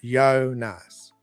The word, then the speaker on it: Jonas: The Finnish name Jonas is pronounced Jonas. Ah, awesome. Okay. Jonas. We have this in Lithuanian. We call it Jonas. That's why I thought it might be the Y sound, not J.